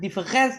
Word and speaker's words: différance: Jadi konsep differens ee pakai A ini ee dimaksudkan untuk ke situ. Jadi sengaja dia membuat ee salah tulis tapi bacanya tetap sama seperti ee sesuatu yang sudah ada sebelumnya.